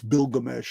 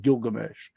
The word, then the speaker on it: Bilgamesh: The original pronunciation is with a B. It's Bilgamesh, not Gilgamesh.